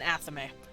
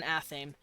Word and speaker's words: athame: how to pronounce that I always called it an anime but I'm pretty sure it's an athame and it's a knife